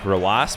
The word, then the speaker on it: RW9: I say RW9 like Rawas because that's how you say his name. The 9 is just a symbol for a sound in Arabic.